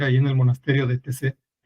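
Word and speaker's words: Taizé: Se llama TC, se escribe Taic y ese es un lugar de pues donde van muchos jóvenes, sobre todo es para jóvenes.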